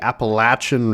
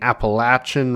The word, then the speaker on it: Appalachian: to our sweet 16 we are now moving on to the appalachin region thank you for someone in the comments that corrected my pronunciation of that we are doing the Appalachian region here uh today in